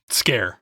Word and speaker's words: Sker: cb you've been playing made of skir and i don't know if we're pronouncing that correctly scare it is scare made of scare but it's pronounced or it's spelled s-k-e-r this looks like a